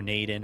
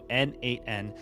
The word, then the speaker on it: n8n: a little bit about n8n that's how you say it at least according to a couple of videos I watched I thought maybe Nation or nen or something like that no n8n it's platform we're looking